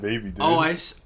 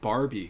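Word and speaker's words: Bhabie: think you're right but i thought it was bad barbie because she it's spelled b-h-a-b-i-e i always thought there was an r in there well sorry dude you're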